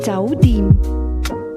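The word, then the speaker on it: 酒店: Hotel is pronounced with a combination of mid-rising and mid-level tones. Listen and repeat. 酒店。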